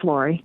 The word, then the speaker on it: Lori: Did I pronounce that right, Lori? That is correct. It is Lori.